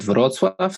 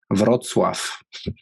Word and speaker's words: Wrocław: The city is called Wrocław. That's southwest. Okay. Like cool. 100 kilometers from German border. How do you pronounce that city again? Wrocław. Cool. Wrocław.